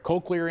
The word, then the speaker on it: cochlear: I pronounced it right? Cochlear implant?